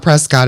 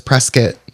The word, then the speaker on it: Prescott: It's not Prescott. It's Prescuit.